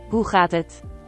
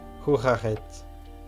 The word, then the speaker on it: Hoe gaat het: How do you pronounce it, though? Hoe gaat het? Hoe gaat het?